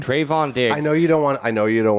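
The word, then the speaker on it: Trevon: tr trevin diggs i can never say it trayvon trayvon dick i know you don't want i know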